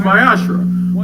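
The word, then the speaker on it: מעשר: it means 10th in hebrew it is pronounced my ashrae one tenth of every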